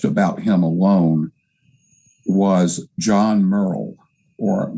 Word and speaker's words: Murrell: him alone was john murrell or some people pronounce it morrell he was the most